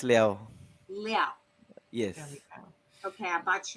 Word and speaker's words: Liau: for having me hello how did you pronounce your name alex how do you pronounce it alex leo yeah yes okay i